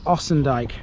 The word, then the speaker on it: Ossendyke: The second part is down that road over there, which we'll get to later, and that is Ossendyke.